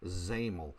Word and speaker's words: XAML: XAML, that's how that's said. XAML is pronounced XAML.